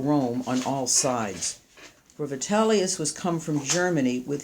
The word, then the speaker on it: Vitellius: on all sides for vitalius was come from Germany with his soldiery that's vitalus well you know he it's actually vellus it's spelled differently here yeah go on and